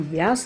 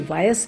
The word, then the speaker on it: व्यास: बेटी की सहेली ने बेटे का नाम व्यास रखा था, जिसे कोई वायस कहता तो कोई व्यास।